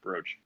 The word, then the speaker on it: brooch: But I think it still is pronounced brooch.